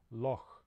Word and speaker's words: loch: now as an example we have the scottish word loch for lake that ends with this sound other languages with this